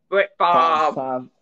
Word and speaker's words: Brett Favre: Brett Favre.